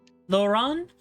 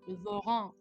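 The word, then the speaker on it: Laurent: into the direction of laurant Lauren laurant what's what's the pronunciation lauron he swore lauron I see but we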